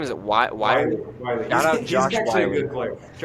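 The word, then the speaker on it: Whyle: Wiley. Shout out He's Josh actually a Wiley. good player. Josh Wiley's actually a good player. I shouldn't hate too much. He's a good blocker. Shout out Josh Wiley.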